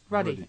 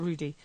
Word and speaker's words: Ruddy: But he said to me, don't forget to ask, how do you pronounce it? Rudy? Ruddy. Ruddy. The Jamaican way. Ruddy. Not Rudy.